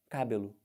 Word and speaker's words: cabelo: fala como é que fala isso do jeito que está escrito com acento você fala cabelo meu cabelo está despenteado no cabelo é assim que a gente fala não é isso prova que essa sílaba que você tentou botar como tônica ela não é tônica porque Ficou esquisito Então